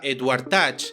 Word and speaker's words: Edward Teach: llamaban barba negra y su nombre real era Edward teach y se pronunciaba Edward Touch lo que hizo od